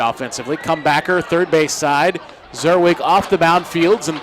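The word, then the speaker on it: Czerwic: Zerwig spelled with a C, C-Z-E-R-W-I-C.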